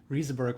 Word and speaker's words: Rieseberg: I lived in Germany for a while, and it would be Riesenberg, I think. It's a funny question. I've been in the Silicon Valley for like 13 years now, and I never really figured out how I really want people to pronounce it. Rieseberg works fine, but I'll take anything.